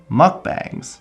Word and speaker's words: mukbang: of the genre called mukbangs, or mukbangs. It's spelled B-A-N-G. So I'm going to say mukbang, because that's how it's phonetically spelled, and that should be the correct way.